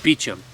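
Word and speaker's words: Beauchamp: beachum standard walnut call b-e-a-u-c-h-a-m-p beecham now you can look up art beechum duck calls it's a hard to pronounce name based on the spelling so i'm just going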